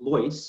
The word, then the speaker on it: Lois: Um and uh uh the wine the wine is called Loys. So it rhymes with choice.